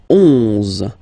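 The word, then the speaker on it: onze: 10, 10, okay, then 11, 11, okay, so O plus N give you the sound on, 11, 11, okay, final E doesn't exist phonetically, 11, okay, 12, 12,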